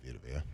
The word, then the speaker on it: Vea: You say Va.